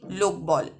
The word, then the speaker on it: লোকবল: এগুলির প্রত্যেকটাতেই প্রথম যে দল তাতে শ্বাসাঘাত পড়ছে বা জোর বা স্ট্রেস পড়ছে।